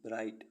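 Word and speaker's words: bright: मीस आठ बी आर आई जी एच टी ब्राइट ब्राइट मीस चमकीला एच आई जी एच हाई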